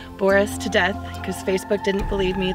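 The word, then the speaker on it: Boris Tudeth: death that is how you say my name Boris to death because Facebook didn't believe me that the proper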